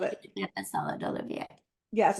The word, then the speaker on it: Olivier: Is that how you pronounce it? Yeah, Salad? yeah. Well, yes, we say salad Olivier, which is really, it's a Russian dish that